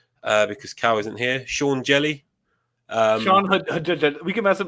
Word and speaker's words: Hjelle: Like, anyway, Sean, whatever his last name is, Jelly. Apparently, that's how you pronounce it.